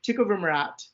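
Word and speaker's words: tecovirimat: smallpox and um and it's an antiviral agent tick over Murat I think I'm not saying it right um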